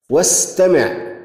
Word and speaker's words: استمع: لاحظ عندما نقرأ: واستمع، واستمع، بينما وأرسل، وأرسل. في استمع لم ننطق الهمزة، أما في أرسل نطقت الهمزة. إذن استمع، همزة وصل، همزة استمع همزة وصل، وهمزة أرسل همزة قطع.